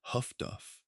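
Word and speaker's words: HF/DF: The development of highfrequency direction finding HF flesh DF pronounced huff duff was an anti-ubmarine technology that worked on a different principle from radar and complemented it effectively.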